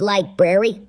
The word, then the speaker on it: library: It's pronounced library. The library of humanity. It's a tough one. Ragnora used to love going to that library. Yeah. You're still saying it wrong. There's 2 R's in there.